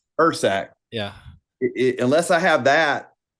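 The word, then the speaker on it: Ursack: a bear canister the the years saac is that how you pronounce it Ur saac I've heard it ERS saac Ur saac yeah unless I have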